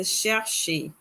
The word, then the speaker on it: chercher: So it is a chercher. For those verbs with the accent aigu, that's this accent here, we pronounce the letter E comme E.